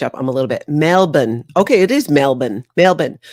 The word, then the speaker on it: Melbourne: trying to catch up I'm a little bit Melbourne okay it is melbour melbour but do people not in Australia pronounce it melbour I know you pronounce it